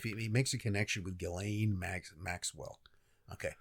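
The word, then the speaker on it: Ghislaine: makes a connection with Gileain Maxwell. Okay. I'm pretty sure it's Gileain. Yeah, I've heard Galileain. He's okay. They're all different pronunciation. I'm I'm sticking with Gileain.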